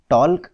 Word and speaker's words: talk: Look at the word talk. Here L is silent.